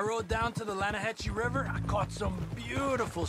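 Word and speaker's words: Lannahechee: it runs right near here yeah but it's pronounced Lana Hass why is everything in English said differently than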